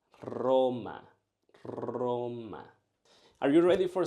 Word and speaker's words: Roma: And last, let's use the capital of Italy. Roma, Roma. But this is not how you should say it. You should say it Roma, Roma.